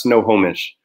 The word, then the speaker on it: Snohomish: Snohomish.